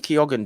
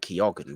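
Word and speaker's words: Keoghan: know Barry kyogan Barry Keogan did win the the no did Barry kyogan win the bafta he did Barry kyogan won the bafta and his name's not kyogan but I always say it like that he won the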